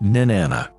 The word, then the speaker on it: Inanna: En sumérien, elle se prononce généralement « nin-anna ».